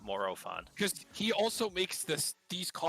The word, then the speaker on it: Morophon: go that's why i always thought it was more fun not morophone he also makes this these less yeah and